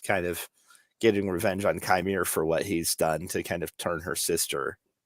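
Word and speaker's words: Qimir: from Soul, OSHA's head's been, filled up by Chimere, right?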